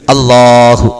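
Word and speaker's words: الله: അള്ളാഹ് എന്ന ഉച്ചാരണം കൃത്യമായിരിക്കണം. നാവിന്റെ തുമ്പ് മുൻപല്ലുകളുടെ മുകളിൽ, അത് മുളച്ചു വരുന്ന ആ മോണയുടെ മാംസത്തോട് ചേർന്ന് നിൽക്കുന്ന ആ മുകളിൽ സ്പർശിതമായി തന്നെ അല്ലാഹ് അങ്ങനെ പറഞ്ഞു പഠിക്കണം.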